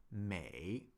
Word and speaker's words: 美: Beautiful is 美. Beautiful is 美, like this. Are we able to see that? 美. And the Chinese character for 美 is right there. 美.